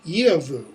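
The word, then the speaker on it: giefu: It's going to be the hard g, as in god, which is good, or the ya, as in yevu, gift, and yevan, to give.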